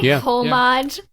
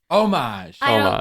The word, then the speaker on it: homage: have you read the the full you say homage yeah he says homage all the time yeah